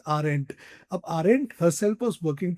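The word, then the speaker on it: Arendt: A link that aren't, so this is pronounced as aren't, right? D is silent, so you just simply pronounce it as aren't.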